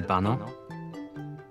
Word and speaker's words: baño: Donde está el baño? The word baño is pronounced ba-ño with a soft ñ sound like in the English word canyon.